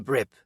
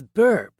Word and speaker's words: Brip: [clears throat and snorts] "I'm Brip," he said. "Some of the idiots in this town pronounce it as burp. That is wrong.